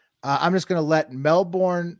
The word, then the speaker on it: Melbourne: I'm just gonna let Melbourne Melbourne sorry that's how they say it uh news7 tell you